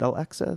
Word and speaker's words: Al-Aqsa: Is it Al-Aqsa, the mosque there? Yes. It's AQSA. How do you spell it?